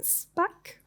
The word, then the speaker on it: Shpak: This pitch will come from Shpak. Oh, I hope it's correctly pronounced.